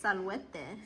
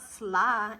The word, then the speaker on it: salvete: Okay, but since it's multiple people, it's salvete. Salvete. So do you see how I spell it? Disculpeles. Yeah. Salvete. So Salvete. write salvete. A-T. Marek, it's not sla, it's salvete.